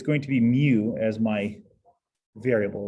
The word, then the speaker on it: mu: The way you pronounce it is you pronounce it as mu, but it's a squiggly M.